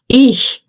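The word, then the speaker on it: ich: Ix, você diz, você pode pegar uma caneta e não fecha a boca.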